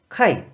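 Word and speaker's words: 怪: 아야시 아이아 시라고 있고 음으로 는 카이 카이 라고 발음 해요 자 그럼 이만 보도록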